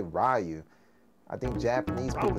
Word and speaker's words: Ryu: I'm gonna get Ryu. Some people say Ryu. Americans say Ryu.